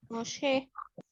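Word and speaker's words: משה: Moshe. Moshe. ya, lo que se ha Sí. transliterado como Moisés. Sí. Como termina en G, al final nos indica que se va a acentuar en la última sílaba.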